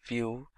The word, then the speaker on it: Vue.js: web application Sol solution vue.js is commonly referred to as View and pronounced as vuejs or view is rightly so now why should